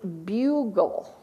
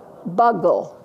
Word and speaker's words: bugle: words I have the the consonant le always stick together so that would be bugle that you would be long if I spelled it with two G's what would it say buggle exactly if I spelled